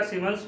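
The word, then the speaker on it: siemens: तो इसका सीमेंस में भी इसको एक्सप्रेस किया जाता है, सीमेंस, ठीक है। तो यहाँ पर ये देखते हैं, इसकी स्पेलिंग थोड़ी सी अलग है, SIE, ठीक है, सीमेंस। तो इससे हम लोग एक्सप्रेस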